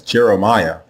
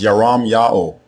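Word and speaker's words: ירמיהו: Both forms are pronounced the same way. There are not two different ways to say the prophet's name. The way you say his name is yam yao. Yam yao.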